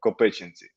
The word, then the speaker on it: Kopychyntsi: is called where i'm a mayor is called co-patiency and and i was born here um so